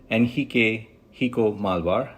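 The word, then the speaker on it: Henrique Malvar: pleasure to uh welcome nhik hio malar that's the Brazilian Portuguese pronunciation also known as Rico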